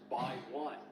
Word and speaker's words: X1: The X1 is pronounced by one.